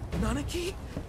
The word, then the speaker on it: Nanaki: Nanaki? That's how you say it.